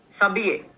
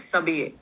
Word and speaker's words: s'habiller: S'habiller. Next one is s'habiller. H is silent.